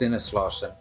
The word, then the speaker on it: Sinneslauschen: I mean, it's pronounced Sinneslauschen. It's German.